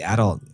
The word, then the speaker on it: adult: I think it depends on where the because the adult um you can say adult or adult. So if you guys are learning English, you can pronounce the both ways but an adult